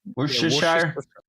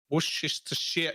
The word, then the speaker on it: Worcestershire: Worcestershire. Worcestershire. No, it's share. It's share. You don't say shire. It's share. I learned this the other day. Well, a couple of months ago. Worcestershire.